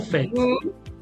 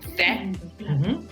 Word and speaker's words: faites: No, the S is silent, remember. Vous faites. vous faites, and then ils font.